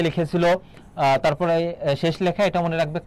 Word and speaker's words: তরী: আর উচ্চারণের ক্ষেত্রে মনে রাখবে দীর্ঘইকারে ব্যবহার নেই, সেক্ষেত্রে কি হবে বলতো, হ্রস্বইকার হবে। তরি, এটা হচ্ছে উচ্চারণ।